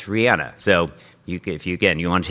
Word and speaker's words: Rihanna: Rihanna pronounces her name Rihanna. We all say, Americans say Rihanna, but it's Rihanna.